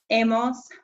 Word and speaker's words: hemos: Notice again, and hopefully you know this by now, but that H in Spanish is silent. He, has, ha, hemos, habéis, han.